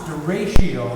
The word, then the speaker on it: derecho: And it's pronounced derecho. It's a Spanish word.